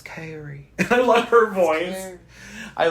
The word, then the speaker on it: Carrie: principle ever Hees a damn he gets her name wrong he calls her Cassie like 10 different times and she keeps going it's krie I love her voice I love her voice